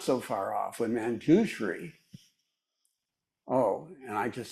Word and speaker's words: Manjushri: And then I realized I was not so far off when Manjushri, and I just said Manjushri, and Genev would point out to me that it's Manjushri, not Manjushri. Is that correct, Peg? Manjushri. Yes.